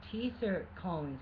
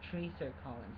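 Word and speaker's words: Treacher Collins: teaser calling sex look it's not a teaser calling syndrome it's a tracer calling syndrome it kind of seems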